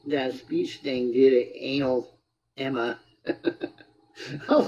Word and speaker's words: Analemma: But the way it's pronounced is anal Emma.